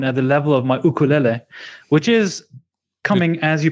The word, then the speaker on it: ukulele: from hawaii uh and you should say ukulele not ukulele actually if you pronounce it correctly in hawaiian spelling it even has an apostrophe before the first you so it's apostrophe yeah